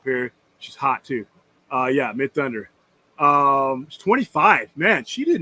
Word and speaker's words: Midthunder: Amber Midhunter. Am I pronouncing her name right? Amber Midhunter. Yeah. Is she carries the movie? Mid Thunder. Is it Mid Thunder? Mid Thunder. I'm sorry.